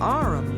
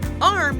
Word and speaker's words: arm: "Sure, it's an arum, Your Honor." He pronounced it arum. "An arm, you goose!